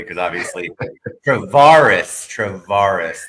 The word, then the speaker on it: Travaris: And thank you for pronouncing your name correctly because obviously Travaris Travaris I tell people it's bar life bar, but I've heard every variation.